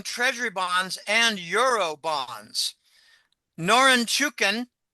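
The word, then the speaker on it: Norinchukin: bonds and Euro bonds noren chukin that's a hard one to pronounce quickly norin chukin Bank just posted a$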